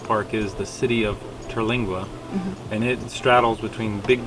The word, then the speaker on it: Terlingua: Terlingua, which is in Big Bend Ranch State Park, so on the other side of Big Bend.